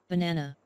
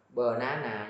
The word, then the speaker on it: banana: Banana. Banana. Đừng đọc là banana nha.